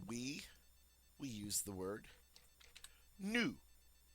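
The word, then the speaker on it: nous: we use the word new notice we don't pronounce the final s we often most of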